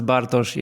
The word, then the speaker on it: Bartosz: said it very well and the way you pronounce bosi is like original version fantastic fantastic I I